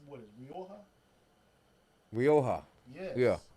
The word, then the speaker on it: Rioja: Rioja. Yes. Yeah. Yes. Yeah, Jay Silent.